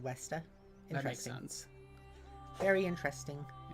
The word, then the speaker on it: Vesta: Vesta should also be pronounced Westa.